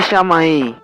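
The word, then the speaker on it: שמיים: A verdadeira pronúncia da palavra praz na origem hebraica é shamaíim.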